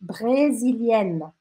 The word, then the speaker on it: brésilienne: No feminino, je suis brésilienne. Brésilienne. A diferença, tá? Que você pronuncia aqui no feminino o N, tá?